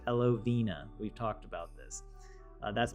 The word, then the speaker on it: Elovena: And I ended up with my Elovena, as it's pronounced. Elovena.